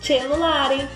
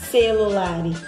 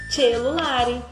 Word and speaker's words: cellulare: E o C também, o C e o E, tem o som de che. Por exemplo, cellulare não é celulare, cellulare.